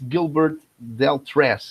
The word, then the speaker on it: Gilbert Deltrez: So that's Gilbert Deltrez.